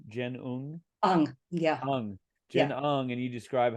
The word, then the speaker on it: Jen Ung: Is it pronounced Jen Ung? Yeah. Jen Ung, and you describe how she was your editor for Love and Resistance.